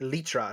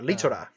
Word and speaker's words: Lythra: lytra litora yeah um it can be said both ways like in japanese it's there's a vowel between the two consonants so it's litora but it's usually um written out in english as lytra but either one works so this episode was